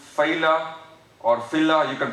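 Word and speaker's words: fila: this tricuspid annulus or collagenous ring is called phyla, or phyla, you can pronounce it coronaria, F-I-L-A.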